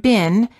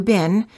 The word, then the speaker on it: been: In American English, the word been, as in how have you been, is pronounced as I, but in British English it sounds like E, the same as the food beans.